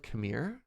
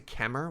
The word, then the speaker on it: Khmer: How do I pronounce this word as one syllable? That doesn't make sense to me. Khmer? That's still two. Pronounced like Khmer? Oh, as opposed to Kemer, which I'm saying? Khmer? Khmer? Still sounds like two syllables to me.